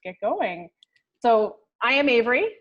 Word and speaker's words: Ave: So I am Avery, the Ave of Ave, which rhymes with Dave.